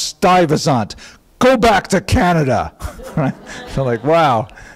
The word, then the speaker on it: Stuyvesant: So apparently, in my ignorance, I said Stuyvesant, which is, that's how you spell it.